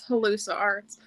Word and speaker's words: Halluci Arts: right yeah halluci arts a lot of people don't know how to to pronounce it but it is halluci arts there we go almost like hallucinate but like people are